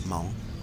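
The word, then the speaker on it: Hmong: know how to pronounce this but apparently you pronounced it Mong fresh PPP um I'll just put it in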